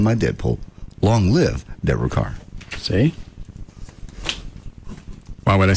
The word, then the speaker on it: Kerr: I know it's spelled Kerr, but it's car.